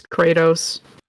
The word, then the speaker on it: Kratos: Kratos, am I saying it right? Kratos? Yeah, it's Kratos.